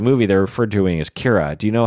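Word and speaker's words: Qi'ra: How would you think it's spelled? Kira would be Kira, Kira. Right. I thought it's Kira. There's a Kira in Star Trek, and I think that's how they spell it in Star Trek. Anyway, it's spelled Q.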